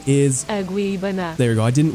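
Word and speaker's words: Agueybaná: Aguibana. There you go. I didn't want to butcher the pronunciation, so I just inserted it right there.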